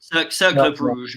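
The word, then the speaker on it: Cercle Brugge: This is the season that I can't remember how to pronounce the club. John, what's it called again? Cercle Bruges.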